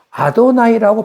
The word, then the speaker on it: 아도나이: 그렇게 읽으면 될 것인데 그렇게 안 읽고 아도나이라고 바꿔서 읽는단 말이죠. 아도나이. 그러니까 아도나이라고 읽어요.